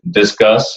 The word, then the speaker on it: Disqus: For our WordPress sites, we use Disqus. It's called spelled like a DISQUS, I think is the software we use for comments.